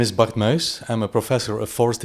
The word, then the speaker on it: Bart Muys: So you will hear the proper pronunciation. So let's begin. My name is Bart Muys.